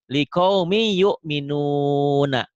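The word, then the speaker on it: لِقَوْمٍ يُؤْمِنُونَ: Liqaumin jadi n-nya hilang tuh, n-nya hilang. Jadi ada y. Liqaumi. Liqaumi yu'minuna. Gimana bacanya? Liqaumi? Liqaumi yu'minun. Liqaumi yu'minun kalau dihentikan. Kenapa jadi liqaumi? Karena tanwinnya ketemu Ya. ya.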